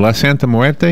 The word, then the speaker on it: La Santa Muerte: So how did my pronunciation, La Santa Muerte, is that right? You actually pronounced that perfectly.